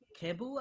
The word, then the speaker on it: Kebu: ask you about uh cable i think is how you pronounce his name who's that a k-e-b-u um the oh yeah yeah cable is a keyboardist um